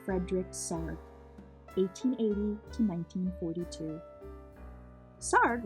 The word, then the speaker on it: Sarg: sarf 1880 to 1942 sard rhymes with art every little movement has a meaning of its own Tony sarg from the time he